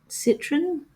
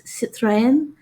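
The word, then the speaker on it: Citroën: It's another European um uh car brand um called Citroen. that well that's how I've always pronounced it in Australia yet in the the car ad they've pronounced it as siten um at least that's the best way I could pronounce it in anyway there's probably a slightly better way of pronouncing it yet I hadn't realized that that could be the the proper way of saying it so again I'll end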